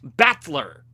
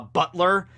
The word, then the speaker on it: Battler: However, in the Romanj, the way his name is pronounced sometimes comes out as Butler. So is he a butler or a battler? He's a battler butler. Okay, but no, he's Battler, Count Battler, all right?